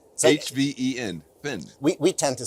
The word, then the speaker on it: Hven: Vin, yeah. Vin, So, H-V-E-N, Vin. We tend to say it comes from the old Norse. It's Heaven Island. So it's a silent H actually in Swedish, but Heaven Island.